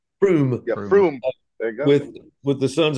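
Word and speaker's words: Frome: Froome.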